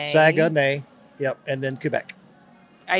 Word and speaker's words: Saguenay: Charlottetown, Saguenay. Saguenay. Yep, and then Quebec. I even put it in here, the pronunciation.